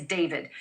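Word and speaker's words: d4vd: Literally, for the singer known professionally as David, spelled D4 VD. I know it's strange, but it's pronounced D.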